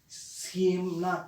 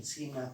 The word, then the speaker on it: Ciemna: There were some caverns or archaeologists, those who went to that particular cave, which was named as the Siemna Cave. It's spelled as CIEMNA, Siemna Cave.